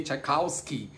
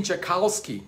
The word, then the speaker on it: Tchaikovsky: Em inglês eles botam com W em vez de V, Tchaikovsky. Eles pronunciam assim, Tchaikovsky. E eu falei, Tchaikovsky. Em italiano eles pronunciam Tchaikovsky com C. C-I-A, Tchaikovsky, não tem T.